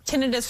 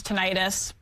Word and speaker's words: tinnitus: And I just want to say, tinnitus versus tinnitus, I think both terms are accepted, right? Yep. It just kind of depends on how you say it.